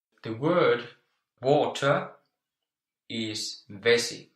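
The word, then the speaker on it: vesi: the word water is vessie how would you spell it vessie vessie v e SI I SI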